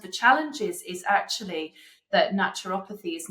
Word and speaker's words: naturopathy: What are some of the challenges that you face, right, in practicing naturopathy? Pronounce it for me again. Naturopathy.